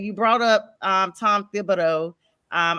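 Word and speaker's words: Thibodeau: You brought up um Tom Thibido. Um I always want to not pronounce the H. It is Thibido.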